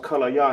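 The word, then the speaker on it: כליה: Can English is pronounced kallaya in Hebrew. Kallaya.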